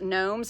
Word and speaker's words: gnomes: So if you're choosing from those, it's sold space 133 space poinsettia space Grinch or space gnomes. And gnomes is Gnomes. There is a silent G in that one.